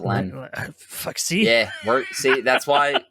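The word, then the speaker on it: Leene: Some people pronounce it leany, and some people pronounce it lean. Len, I pronounce it Len.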